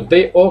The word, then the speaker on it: do: Y es el do, escrito D-O, que se pronuncia con U, do, no se dice do.